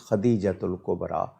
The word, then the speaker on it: خدیجۃ الکبریٰ: جی، تو وہ lower degree اس کا معنی خدیجہ کا، لیکن میرے نزدیک صحیح تلفظ خدیجۃ الکبریٰ رضی اللہ تعالی عنہا یہی ہے۔ اگلا سوال راول پنڈی